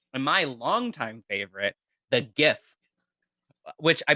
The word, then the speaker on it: GIF: my longtime favorite, the GIF, which I believe is pronounced GIF, not Jeff.